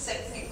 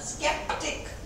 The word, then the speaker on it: skeptic: सी के बाद ही आता है तो उसका प्रोनाउंसिएशन सेप्टिक होता है, वो सेप्टिक वेप्टिक हो जाता है ना। स्केप्टिक शंकालु।